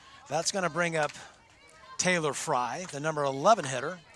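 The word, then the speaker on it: Teilar: It's spelled T-E-I-L-A-R, but it's pronounced Taylor.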